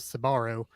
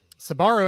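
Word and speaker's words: Sbarro: she's never heard of sabaro sabaro actually spelled s-b-a-r-r-o so for whatever that's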